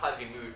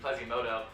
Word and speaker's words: Plazimoto: I just realized I've been saying that name wrong. Not Plazimood, Plazimoto on the Venture, which is a really interesting pick.